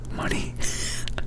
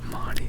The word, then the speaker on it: Monty: Goodbye, Monty. Money. Which one is it? Goodbye, Junkie. I thought it was Monty. Which you gotta like tell me which pronunciation is the correct one. Monty. Okay, good.